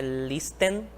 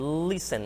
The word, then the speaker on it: listen: Não é listen, nem é listen, listen. O T quase não é pronunciado, tá?